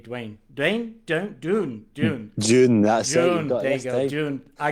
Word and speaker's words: DVNE: one and only dudley tate the drummer from dane dwayne the band the band from the edinburgh and embrace wayne dwayne don't doon june june that's it i got it finally all